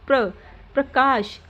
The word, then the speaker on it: प्रकाश: जैसे प र प्र के बाद र की साउंड आएगी। प्रकाश ग्राम ग्राम समुद्र द के बाद र की साउंड आ रही है।